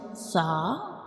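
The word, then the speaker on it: ث: When we pronounce sa, we touch the tip of tongue to the edges of upper teeth.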